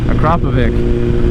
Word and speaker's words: Akrapovic: k67 procovic acropovic that's what it is akrapovic apparently that's how you pronounce it i don't care i'm